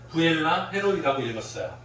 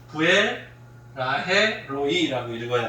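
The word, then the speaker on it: 브엘라해로이: 저는 어렸을 때는 이 이름을 잘 모르고 부엘라헤로이라고 읽었어요. 아니고요. 부엘라헤로이라고 읽어야 돼요.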